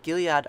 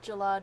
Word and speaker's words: Jalad: Darmok and Gilead are the best at Tangara. Oh, Darmok and Jalad and the beast at Jalad Tanagra.